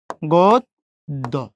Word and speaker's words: গদ্য: এই দর সাথে জফলা, দর উচ্চারণ কয়বার? 2 বার। গদ্য।